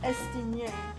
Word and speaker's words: Estinien: It's pronounced Estinien.